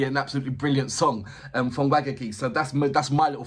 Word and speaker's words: Wagakki: It was you that told me how to pronounce it. So it's Wagaki.